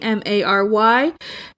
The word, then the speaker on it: merry: merge, which is that the word Mary, M-A-R-Y, Mary, M-E-R-R-Y, and Mary, M-A-R-R-Y are all pronounced the same.